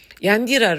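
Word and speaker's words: Iyandhira: yandira rhymes with the name of the prime minister indira but it is not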